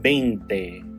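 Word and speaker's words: veinte: And in Spanish, it is written like this and it's pronounced bente. Bente bente.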